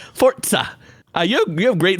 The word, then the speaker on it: Forza: Forza. Forza. You have you have great fortza. Thank you. Um pronunciation. This is kind of like fo r t s a with a real sharp s.